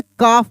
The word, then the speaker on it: calf: तो यहाँ पे एल जब साइलेंट हो जाएगा तो हम एफ का ही उच्चारण करेंगे। तो यहाँ पे इसको हम लोग क्या पढ़ देंगे? काफ पढ़ देंगे।